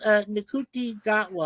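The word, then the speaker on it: Ncuti Gatwa: some crazy name I can't Nuti- pronounce. His name is Nkuti Gatwa.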